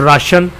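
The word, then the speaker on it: ration: For example in the word राशन TION is pronounced as श। राशन में जो TION है ये श की आवाज़ देता है।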